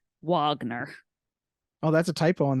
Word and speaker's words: Wagner: Wagner. Oh, that's a typo on their part. I No, copied and pasted that. Is it It's spelled it's with correct, but you pronounce it Wagner.